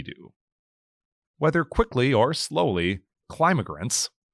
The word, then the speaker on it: climigrants: Whether quickly or slowly, climigrants, Keenan pronounces the word with emphasis on the first syllable, will continue arriving in Duluth.